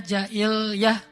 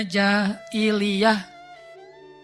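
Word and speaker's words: jahiliah: Kalau di situ tulisannya jailah, tapi saya bacanya jailiah. Jailiiah. Jaili jailiah. Gimana sih tentang masalah canda dalam Islam?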